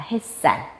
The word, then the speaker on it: 햇살: 해살이라고 발음 안 하지. 뭐라고 발음해? 햇살이라고 발음합니다. 햇살.